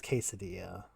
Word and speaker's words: quesadilla: It stops being a joke if it's just how you pronounce it without fail. It's funny to me. It's funny to me. I know it's quesadilla.